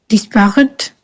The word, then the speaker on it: disparut: la petite porte l'ouvrir disparut. La petite porte était restée ouverte et toutes les jeux éteint sur cette petite porte réar. Alors, on prononce pas le t, hein. Disparu. Réapparu.